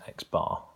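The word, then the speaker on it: x̄: notation for mean is x-bar okay so the pieces of data are look alikes and X with a bar over the top pronounced X bar is another way of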